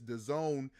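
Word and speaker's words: DAZN: the Digital streaming service The Zone I think that's how you pronounce it d-a-z-n uh I think it's pronounced the Zone um and they're all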